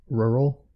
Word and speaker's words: rural: sorry about all this rural rural tough to pronounce that that American R is unique it's rural rural how much cost the